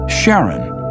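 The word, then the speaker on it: Charon: in greek mythology but preferred to pronounce it sharon more like his wife's name charlene from the motions of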